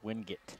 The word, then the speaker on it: Wingate: Most people I hear say Wingate. Yes, and that is the correct pronunciation.